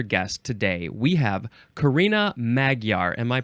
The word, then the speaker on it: Magyar: we have another guest today we have Karina magar am I pronouncing that correctly you are way to good